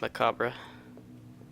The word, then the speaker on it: macabre: am i car bruh it's a really wait weird way to pronounce macabre like my car bruh okay for me yeah